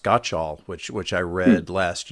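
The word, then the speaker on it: Gottschall: Paradox um by Jonathan I think it's pronounced got all which which I read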